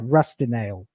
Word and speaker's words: Rustinale: And I'm pronouncing it as that because that is how it's supposed to be pronounced, as one word, Rustinale.